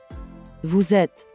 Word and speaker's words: vous êtes: Did you notice the sound of Z? This is because of liaison, where the last letter of vous, which is S, is linked and pronounced with the first letter E of the next word to make the Z sound.